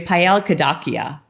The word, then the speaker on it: Payal Kadakia: for me on the podcast today we have paella kadakia yes i say it correctly yes he did